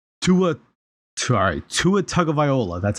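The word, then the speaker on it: Tagovailoa: at that point to a sorry to a tug of viola that's how you say his name uh just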